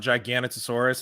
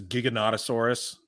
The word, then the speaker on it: Giganotosaurus: at the fact that it's not gigantosaurus it's Giganotosaurus I was like are you kidding me that's how you pronounce it why isn't it uh